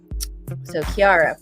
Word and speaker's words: Kiara: I was like, I know it rhymes with Kesha. So Kiara, perfect.